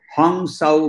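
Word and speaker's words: Hong-Sau: तो हम सो, for that matter Bangla के उच्चारण के कारण जो योगानंद जी जो क्रिया योग सिखाते हैं उसके अंदर में वो उनको इस चीज को हंग साउ मेडिटेशन बोलते हैं, HONGSAU।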